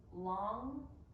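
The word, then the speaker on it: langue: Long, tongue, long. I'm gonna go with long, with like a wide A sound, you know? Long, parole, and long. Okay, all right. Parole and long.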